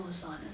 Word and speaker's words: Asana: I have Asana. It's like are you guys familiar with Asana? It feels like an Asana commercial now. Do you know Asana?